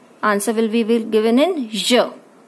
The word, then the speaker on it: je: Then the answer is, answer will be given in je. It's not z, it's not je, it's je.